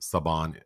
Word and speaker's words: Saban: name well I certainly don't want to purposely mispronounce the name so sabon of course not I just don't I'm not